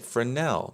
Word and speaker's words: fresnel: click and type in f-r-e-s-n-e-l then we get fresnel the S is silent so fresnel is a